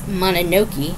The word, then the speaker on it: Mononoke: club Princess Mononoke and that's how you say it is mana no key you should check out